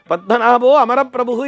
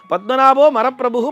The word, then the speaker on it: பத்மநாபோ அமரப்பிரபு: மற்றொரு பண்டிதர் வந்து பார்த்து அட மடையா பத்மநாபோ மரப்பிரபுகு என்று சொல்கிறாயே அப்படி சொல்லப்படாது நீ சொல்லவே அனர்த்தம் ஆயிடுச்சே பத்மநாபோ அமரப் பிரபு என்று சொல்ல வேண்டும் அமரர்களுக்கெல்லாம் அதாவது அவர்களுக்கெல்லாம் தலைவன்